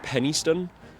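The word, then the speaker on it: Penistone: Now, this is actually supposed to be pronounced Pennystone, but let's be real, none of us at all will be calling it that.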